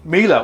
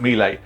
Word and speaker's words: Mila: Mila, well, that was a funny thing in itself, because when I started referring to Mila, like a lot of people, I called it Mile, and everybody else started